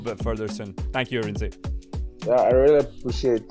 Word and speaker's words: Arinze: To avoid any embarrassment, tell me exactly how I pronounce your name. Okay, my name is Arinze.